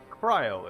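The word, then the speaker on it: Krile: Kryl is how you say it.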